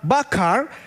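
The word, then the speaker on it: בחר: Kalau kita melihat bahasa Ibrani atau chosen dipilih atau eh kalau kita sebutkan bacanya adalah bakar. Bakar bukan bakar apa ya? Bukan bakar ee kita bakar-bakar begitu ya.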